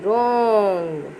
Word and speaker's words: wrong: WRONG, wrong. Here you can see, my dear students, WRONG. W is silent but R sounds.